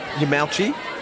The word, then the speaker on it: Yamauchi: Yamauchi. Got the thumbs up on the pronunciation.